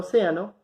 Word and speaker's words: océano: Entonces, la palabra océano, separada en sílabas, va a ser O, C, A, no. Van a ser 4 sílabas. Contamos de derecha a izquierda, sílaba 1, sílaba 2, sílaba 3. Nos damos cuenta que la sílaba tónica es la sílaba 3, por lo tanto, le colocamos tilde porque esta palabra es esdrújula.